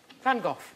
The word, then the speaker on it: van Gogh: The correct Dutch pronunciation is Vincent van Gogh.